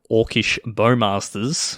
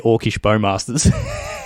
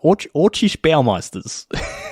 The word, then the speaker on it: Orcish Bowmasters: Andrea Mengucci's podcast, he has no idea how to say Orcish Bowmasters and continues to pronounce it Orcish Bowmasters, okay. Like Corey Baumeister, Orcish Bowmeisters.